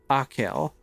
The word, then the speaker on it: Achill: Pronunciation, Achill.